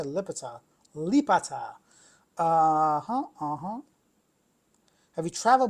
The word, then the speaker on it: Lipata: Lipata.